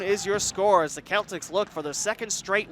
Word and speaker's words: Celtics: folklore Dublin drone yes it's spelled like the basketball team in Boston Massachusetts but it's pronounced Celtx actually the first time